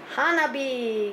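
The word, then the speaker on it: 花火: but anyway how can we read this Hana Hana B yes and of course the meaning is a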